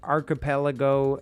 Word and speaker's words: archipelago: I found the clip of Android 16 defining archipelago right now.